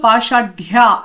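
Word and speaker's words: पाशाढ्या: So da has ha and ya both together and then a matra as well. So Pashadya. And all three syllables have to be you know, pronounced very clearly.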